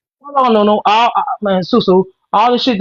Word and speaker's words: Susu: My name is Suzu. You said it right the first time.